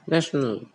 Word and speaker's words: national: at the end of this word the B word becomes national and the pronunciation of the body night national see in